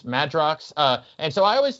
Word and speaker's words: Madrox: multiple man i always thought it was a magerox but it's madrox uh and so i always thought it was